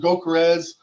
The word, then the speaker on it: Gyökeres: And it goes again to where if we do bring in a Gyökeres, or that's how you say his name, Gyökeres, if we bring in a striker, Oshimen, whoever, I'm telling you guys, that puts Kai Havertz at left mid.